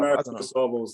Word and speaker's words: Marathon des Sables: Marathon des Sables, that's it, yeah.